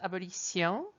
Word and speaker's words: abolition: Abolir means to abolish, and we get the word abolition from it, which the French pronounce abolition.